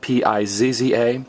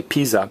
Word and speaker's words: pizza: i z and again Z is pronounced as an S so if they're giving it the Italian pronunciation they'll say Pisa and if they're giving